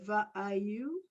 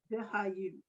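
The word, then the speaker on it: וְהָיוּ: Va'ayu. Almost. The, ha, you. Vihayu. You have to pronounce that H sound.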